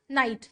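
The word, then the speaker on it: knight: अगला है नाइट और नाइट। दोनों का प्रोनाउंसिएशन सेम ही है। इसमें के साइलेंट रहता है।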